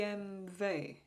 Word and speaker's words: BMW: is it in in is it in Germany or they say B b m v or BMV because W they pronounce as a v let me know anyone